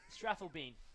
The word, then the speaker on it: Strathalbyn: Can you pronounce that club name for me, Jim? What club does he come from? Strathalbyn.